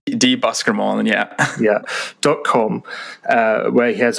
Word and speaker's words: Buskermolen: Make sure I'm pronouncing this right. Buskermolen, yeah, .com, where he has a blog, kind